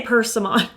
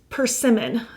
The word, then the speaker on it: Pimmen: I used to say Pimon and then the pronunciation police arrested me. Pimmen.